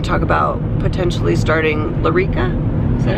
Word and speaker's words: Lyrica: injections we're going to talk about potentially starting larica is that how you say it yeah Lyrica um we'll see what he says this morning